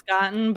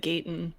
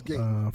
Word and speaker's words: Gaten: How do you pronounce it? I always thought it was Gotten, but in the commercial they said Gaten. It's Gaten.